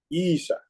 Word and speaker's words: Isa: Isa. That is the proper pronunciation. It's Isa, not Isha.